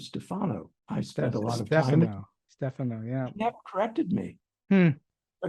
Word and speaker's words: Stefano: years I thought that the screenwriter of psycho pronounced his name Joseph Stefano I spent a lot Stefano yeah that corrected me but his wife did